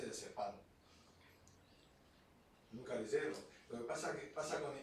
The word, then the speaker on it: diazepam: Le pongo lo más típico, el diazepam. Diazepam no lleva tilde. Y todo el mundo dice diazepam.